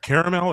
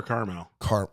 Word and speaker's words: Carmel: Caramel or Carmel? Carmel. Wait, okay, hang on. We're switching up too much now. Like the town in California, Carmel, California. I call it caramel. Not familiar? So I'll spell it for you. Never if been that helps. Karmel. Okay, so not like caramel.